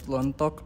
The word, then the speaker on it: Lontok: I'm here with Lontok, or if you're pronouncing it right, it's Lontok.